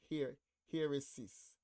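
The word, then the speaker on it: αἵρεσις: So we are in the lexicon for heresis. Heresis, a heresis. That's how it is pronounced.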